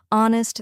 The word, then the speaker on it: honest: K is signed silent honest the H is silent and Castle the t